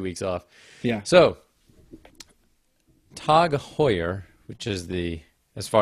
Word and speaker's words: Tag Heuer: So, Tag Heuer, which is the, as far as I can tell, the correct pronunciation of what looks like Tag Heuer, but